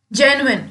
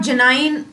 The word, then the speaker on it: genuine: Next word is जेन्युइन. इट इज नॉट जेनाइन और any other pronunciation, it इज जेन्युइन.